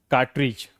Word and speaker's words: कार्टरीज: जब इसके ठीक बाद क्या आता है? जी आता है। देखिए कार्टज क्या पढ़ेंगे इसको? कार्टरीज। अब देखिए यहां पर आप इस डी को हटा दो।